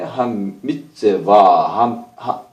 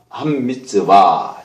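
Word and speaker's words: הַמִּצְוָה: 그 다음에 이제 7번 문제인데, 여기에 한 미츠와, 한 미츠와. 자, 이렇게 읽습니다. 여기 앞에 정관사가 붙어 있어요. 여기 다게시가 있는데, 이건 다게시 포르테입니다. 더블링이죠. 맴이 2개 있는 거예요.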